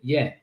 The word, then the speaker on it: Jan: He spells his name Jan in my language as Jan, but from where he's from, they pronounce it Yen.